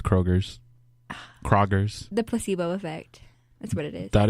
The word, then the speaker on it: Kroger: Walgreens where but Kroger's is it Kroger's or Kroger it's Kroger but everybody says Kroger's Prager's the placebo effect